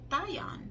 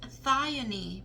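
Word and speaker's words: Thyone: Okay, so oh, I pronounced it wrong. Lovely. So we have here pronounced Thione.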